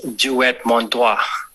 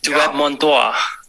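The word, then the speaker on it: Dieu et mon droit: It's actually pronounced as Duet Mon Doigt. I mispronounced. That sounds more French. Yeah, Duet Mon Doigt.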